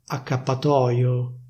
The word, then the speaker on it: accappatoio: For example, some people don't say /accappatoio/, they say /accappatòio/.